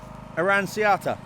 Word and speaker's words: Aranciata: Aranciata.